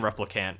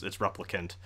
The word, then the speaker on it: replicant: I keep saying replicant, but it's replicant.